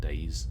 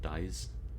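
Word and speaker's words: dais: of a circular room it is day not days isn't it or dies I'm sure it's day I'm sure it's just pronounced day at seven points around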